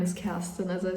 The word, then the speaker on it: Kerstin: Um my name is Casten. As I said, I think a lot of non-German speaking people can pronounce it that well.